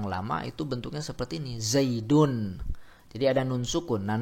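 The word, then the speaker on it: زيدٌ: Contohnya misalkan Zaidun. Zaidun. Nah, jadi ada nun yang sukun, ya, dalam ucapan tersebut, dalam pelafazan tersebut.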